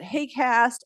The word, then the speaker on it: HAQAST: terms of you know the haq acronym we pronounce it hay cast and this stands for